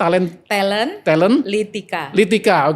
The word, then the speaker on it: Talentlika: Bacanya biasanya talent Litika, oke. Talent Litika.